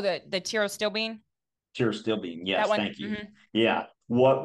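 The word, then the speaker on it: pterostilbene: C Bean oh the the Tio still Bean T still Bean yes thank you yeah what would you say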